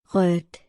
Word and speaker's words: rødt: Let's move on to the next combination where D is muted as it is followed by consonant letter T. Let us read a few examples and listen how the word is pronounced. Rødt. Hvidt. Midt. Krudt.